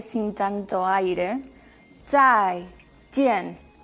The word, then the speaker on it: zai jian: Otro ejemplo era zai jian, chao. Zai, esa Z que suena como TS, zai. Y jian, la J como una CH sin tanto aire, zai, jian.